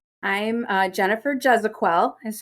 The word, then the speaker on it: Gezequel: what is your full name I'm uh Jennifer jezequel is how you say my last name um